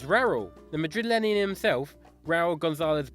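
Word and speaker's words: Raúl: Who's made the most appearances for Real Madrid and rhymes with Jarul? That's right, it's Raul.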